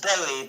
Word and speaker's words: Bowie: It's pronounced Bowie, by the way.